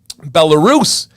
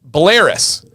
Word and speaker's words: Belarus: He said that it's pronounced uh uh Belarus, not Belaris.